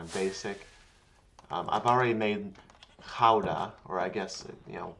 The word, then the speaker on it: Gouda: I think the Dutch pronounce it as gouda, though. They gotta put a little bit of this is my gouda here. You gotta put a little bit of phlegm in the G.